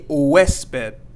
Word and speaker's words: huésped: In your hotel, you are considered a huésped. A huésped is a guest. And again, here we have la H, or the H, and we are not going to pronounce that.